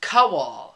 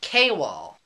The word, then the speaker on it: Kowal: His name isn't pronounced Kowal, it's pronounced Kwal.